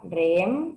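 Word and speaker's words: Rheem: caso de la marca Rem no sé si lo estoy pronunciando bien r h e e m Sí sí perfecto Mira Sí sí por supuesto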